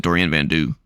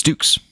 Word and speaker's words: Dukes: I always said Dorian Vanu or Dorian Vano, but it's Dukes.